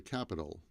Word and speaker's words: Capitol: but the pronunciation is the same. Capital, capital, capital, capital. And the T in capital sounds more like a D. Capital. That building is called the Capitol.